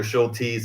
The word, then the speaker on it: Schultes: Schultes is how we pronounced it.